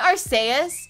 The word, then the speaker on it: Arceus: um really really excited arceus our arseaus oh our saiyas isn't it arseis i was saying it wrong arseius um yeah it's